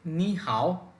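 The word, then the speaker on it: 你好: প্রথম সেন্টেন্সটি হচ্ছে নি হাউ নি মানে হচ্ছে তুমি বা আপনি হাও মানে হচ্ছে ভালো তাহলে একত্রে নি হাও এইযে এখানে দুটি থার্ড টোন এজন্য প্রথমটিকে সেকেন্ড টোনে বলতে হবে উচ্চারণটা হবে নি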